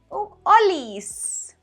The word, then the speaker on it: Holis: Recuerda que la H es muda. Se dice Oli. Olis.